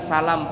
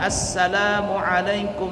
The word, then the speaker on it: Assalamualaikum: Assalamualaikum warahmatullah. Tidak boleh kalau bacanya nggak pakai tasydid. Assalamualaikum warahmatullah. Salam. Tidak boleh. Mesti assalam, double huruf, s-nya double, sin-nya double. Assalamualaikum.